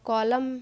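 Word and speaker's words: column: तो कॉलम है जो, यहाँ पे एन है जो साइलेंट है।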